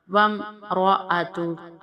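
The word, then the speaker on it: وَامْرَأَتُهُ: ذات لہب، ذات لہب، وامرأۃ، را کو موٹا ہم پڑھیں گے۔ وامرأۃ حمالۃ الحطب، ہا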